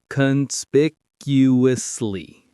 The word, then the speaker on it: conspicuously: Let's get the sound one more time. It's a long one. Conspicuously. Conspicuously. Conspicuously. Conspicuously. The big stress is on that second syllable.